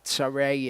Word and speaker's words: Sarai: Sarai is how that is pronounced in Hebrew.